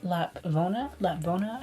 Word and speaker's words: Lapvona: Made Maddie Run, and then now I'm reading Lapvona is how you pronounce it.